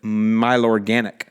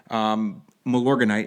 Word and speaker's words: Milorganite: It's funny, Justin pronounces it Milorganic, which I think is cool. Milorganite is what he's referring to, and I prefer to